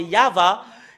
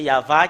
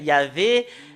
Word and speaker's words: Yahvah: qui confirme ce terme que c'est Yahva qui est le vrai. Yahvé n'est pas dans dans l'alphabet juif ancien.